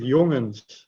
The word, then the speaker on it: jongens: You pronounce it jongens. Jongens. Youngins. You say youngins Yeah.